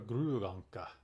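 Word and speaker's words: gråanka: And Duck, Gray Duck in Swedish, from whence it originates, is actually pronounced Anka, Anka, Gruganka.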